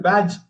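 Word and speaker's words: badge: டி. D silent. பேட்ச். பேட்ஜ்னு தான் சொல்லுவாங்க. பிஏஜிங்கிறது மட்டும் தான் சவுண்ட் வரும்.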